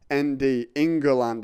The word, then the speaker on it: England: the the football hooligans they say in goland like in i-n-g-e-r-l-u-n-d inga land it's three syllables and we we live